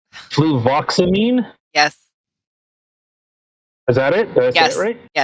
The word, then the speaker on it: fluvoxamine: Fluvoxamine?